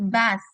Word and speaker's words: bath: Ingat ya teman-teman, kalau misalnya ada kata TH dalam bahasa Inggris, itu lidahnya harus digigit jadi bath.